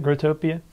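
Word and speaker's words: Growtopia: gr grotopia is that how you say it grotopia grotopia yeah I just looking at the website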